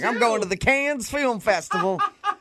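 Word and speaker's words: Cannes: But the pronunciation is it con or can? It's been driving me nuts my whole life and I've never been there. Yeah, it's can.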